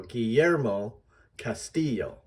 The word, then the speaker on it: Guillermo Castillo: We want to say Guillermo Castillo. And of course, the emphasis is on the second syllables. So we're going to go Guillermo Castillo.